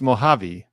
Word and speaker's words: Mojave: Mojave is pronounced Mojave.